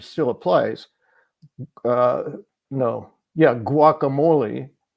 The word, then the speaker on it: guacamole: applies uh no yeah guacamole the the it's u a it's not UI so it depends on the vowel after the U whether you pronounce the hard consonant in front or you pronounce the U or not and if you listen